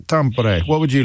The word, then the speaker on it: Tampere: Hi, it's pronounced Tampere. Tampere.